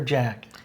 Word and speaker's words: Jaq: Is it Jacques or Jack? It's in France, and it's JAQ. I think people pronounce it both ways, probably.